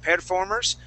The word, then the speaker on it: performers: performers okay so uh at the very beginning you had said uh um perir performers instead of saying perir we say per performers try that please perform performers